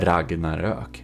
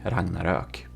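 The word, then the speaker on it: Ragnarök: aka Swedish one, who has the proper pronunciation of the name of this ship because the original builder Robas of the Ragnarok, he is Swedish and um it's called the Ragnarok. Ragnarok.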